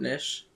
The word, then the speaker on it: niche: So, watch what's going on and kind of Is it niche, not nish? I think is what he said. Nich. That's how I've always pronounced it, but I think it's acceptable either way.